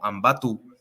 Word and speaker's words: Ambato: Pero en quichua, entiendo yo que se pronuncia como Ambatu, y ahora eso se llama Ambato, ¿no?